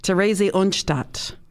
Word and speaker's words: Theresienstadt: Now, I tried to get the pronunciation. It is Theresienstadt is the name of this concentration camp.